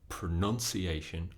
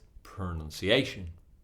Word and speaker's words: pronunciation: second syllable n banana the word pronunciation has pronunciation five syllables where's the stress pronunciation D D D D D on the fourth syllable we can't say pronunciation or pronunciation it's not correct it's pronunciation so when you learn